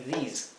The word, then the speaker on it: these: Aquí lo he transcrito con doble I, a these, porque quiero que se pronuncie como una I larga, these, ¿ok? Mientras que este es una I corta, this.